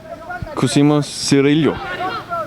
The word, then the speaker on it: Cosimo Cirillo: Pronounced Cosimo Cirillo.